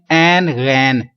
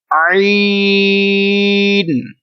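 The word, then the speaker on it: عين: لوگ اس کو پڑھتے ہیں این غین. کیا پڑھتے ہیں؟ این غین. یہ دونوں ہی غلط ہیں. یہ اردو میں تو ہوگا ایسا، لیکن عربی لہجے میں ہمیں ایسا نہیں پڑھیں گے. ان کو آپ نے 3 سیکنڈ لمبا کرنا ہے، اور پڑھنے کا کیا طریقہ ہوگا؟ عین. اس کی آواز ناک میں نہیں جائے، آئین نہیں ہو، بلکہ عین.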